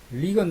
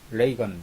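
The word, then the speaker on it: Reagan: 원래는 레이건 대통령이라고 그랬거든요. 리건 대통령이라고 했나요? 그러다가 리건이라는 발음이 잘못된 겁니다. 그래가지고 레이건 이렇게 고쳤죠.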